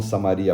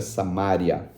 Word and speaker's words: Samária: E até hoje a região, eles não falam Samaria, a pronúncia certa é Samária.